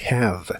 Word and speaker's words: have: en inglés es have la H se pronuncia como una J suave y la e del final es muda lo cual es muy común en inglés la palabra termina con el sonido de la v que es la biodent y